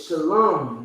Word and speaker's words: shalom: Same thing with shalom.